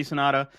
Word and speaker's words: Sanada: Hiroyuki Sanada.